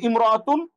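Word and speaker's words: امرأة: এখন একটা গুরুত্বপূর্ণ জিনিস একটু খেয়াল করেন, কি জিনিস সেটা হলো ইমরাতু শব্দের আগে অন্য শব্দ যদি আসে, তাইলে আলিফটি শুধু লেখায় আসে, উচ্চারণে আসে না।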